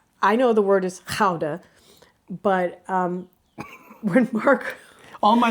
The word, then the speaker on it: Gouda: But it wasn't until we came over here that we realized we were mispronouncing it. It's Gouda, not Gouda.